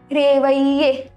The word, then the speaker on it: réveiller: So when we have double L between I and E, it is ye. Réveiller.